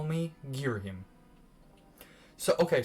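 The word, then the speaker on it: Ghirahim: you may call me gear him so okay some people say his name like somebody said girohim and gang giver him i just say gear him that's how i've always said it i don't know if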